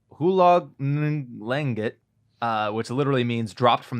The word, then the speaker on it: Hulog ng langit: Hulong ng langit. And we're canceled. No, that's Tagalog. Hulong. It's Tagalog. Hulong nung. The NG is tough. For our listeners, it's N. It's Hulog space NG. Hulog ng langit.